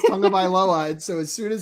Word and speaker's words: Tagovailoa: Because you pronounce it with like an N in there, right? It's Tagovailoa.